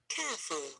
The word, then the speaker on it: careful: Careful. Careful. Careful. This is the short word, so we have only two syllables. Careful. Careful. Careful. And of course, the stress is on the first syllable.